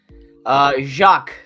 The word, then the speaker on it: Jacques: Jacques.